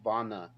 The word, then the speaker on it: Vanna: not going to get kelvin says it's pronounced vonna not vanna vonna okay my bad i'm from kentucky dog you gotta work with me sometimes you know yeah i see two ends together i'm like that's vanna like savannah don't you